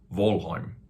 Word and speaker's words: Valheim: very popular game name valheim or probably correctly pronounced volheim and and of course